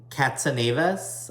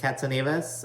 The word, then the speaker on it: Katsanevas: And there's also another Angie Katsanevas. I believe that's how you say it, Katsanevas. I think that sounds Greek. It might be Greek.